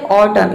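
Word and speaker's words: autumn: जैसे कि देखिए यहाँ पे एग्जांपल है ऑटम, इसमें एम और एन एक साथ आया है तो इसमें एन जो है वह साइलेंट है, एन को हम प्रोनाउंस नहीं कर रहे हैं।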